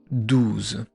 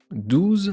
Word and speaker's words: douze: Le O et le U, ça fait le son ou.